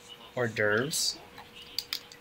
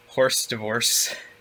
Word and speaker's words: hors d'oeuvres: And one of the people on my team didn't know how to pronounce hors d'oeuvres. Like, they had never seen it written before. And so they called it, like, horse divorce when they were reading it.